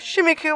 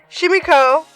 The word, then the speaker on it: Shimiko: swimming in the river shimiku was sure it was a great catch shimiko yeah it's I've been saying coup but that's a CO that's an O I'm so sorry I